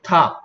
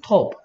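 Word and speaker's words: top: 근데 미국 사람들은 탑, 그리고 영국 사람들은 톱 해요. 그러니까 이오 해도 되고 아 해도 상관없어요, 원래.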